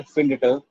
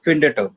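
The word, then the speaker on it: findet: हो रहे हैं, लेकिन ये जो एरजी और ईयर वाला है, इसको हम कैसे बोल रहे हैं? फिंडट, फिंडट। ये जो है प्रोनाउंस करने में बहुत ज्यादा मतलब मुश्किल है, उसको प्रेशर लगता है प्रोनाउंस करने में। इसलिए प्रोनाउंसिएशन को इजी करने के लिए हम लोग इन दोनों में एक्स्ट्रा टी ऐड कर देते हैं, तो ये हो जाता है फिंडेट। प्रोनाउंस करने में सिंपल।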